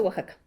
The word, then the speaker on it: Oaxaca: méxico de oaxaca verdad de oaxaca se pronuncia oaxaca bueno si entonces éste